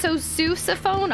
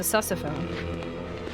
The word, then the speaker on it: sousaphone: Pronounced sousaphone? Oh, well, that's not nearly as fun. I thought it was a sussophone. Now I'm not interested. I wanted a sussophone, not a sousaphone.